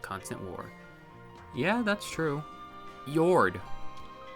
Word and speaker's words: Yord: War yeah that's true yord your name rhymes with sword Ethel's an open-hearted person